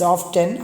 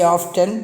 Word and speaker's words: often: silent so remember that always say often T is silent the next word is